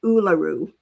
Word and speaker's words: Uluru: So, so those are those are a pair that um okay, so it's pronounced Uluru.